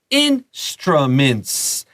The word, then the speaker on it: instruments: So musical, 你就是用 music 后面加 al, and then we have instruments. And this mints 那个 i 发刷, so it's a short I here. Be careful there.